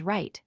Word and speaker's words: write: The W is completely silent. You only pronounce the R sound and the letters that follow it.